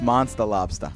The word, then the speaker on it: Monstah Lobstah: of thinking it's not no no it's monster Lobster monster Lobster that's the New England accent right there what inspired